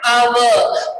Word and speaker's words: hour: We are using an only with the vowels, but here letter H is a silent, so it says our.